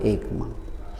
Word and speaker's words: Ekman: Ekman es como suena, la letra K de kilo, man, M-A-N. Paul Ekman.